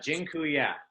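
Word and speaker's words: dziękuję: life so thank you so much awesome and gin Kuya by the way I just taught you all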